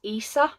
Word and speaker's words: Isa: I'm sure she says in the book it's pronounced ISA um this is a memoir of a cam